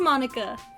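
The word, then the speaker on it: Monika: cuz it's weird and it's pronounced American way so it is Monica my Gremlin noises okay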